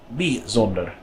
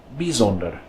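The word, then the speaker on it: bijzonder: another one of those exceptions this word is pronounced bees older bees older and then more of an e sound this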